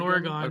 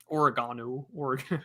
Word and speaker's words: Oregon: The Oshowville in Oregon. Okay. Yeah.